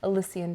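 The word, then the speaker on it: Elysian: Alysian Chocolate Experience. How do you spell that?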